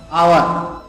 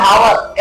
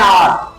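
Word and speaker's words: hour: अब लिखा तो है हावर एच ओ यू आर हा एच फॉर हा के बाद आएगी लेकिन क्योंकि यहां पर आवर आ रहा है यानी इसको हम लोग पढ़ेंगे आवर और या इसको हम लोग ऐसे भी बोलेंगे एन ऑवर और पढ़ेंगे अब ऑवर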